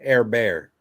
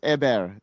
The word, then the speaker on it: Hébert: Pretty sure you pronounce it Air Bear. Yeah. Hébert. It's Hébert in Canada here.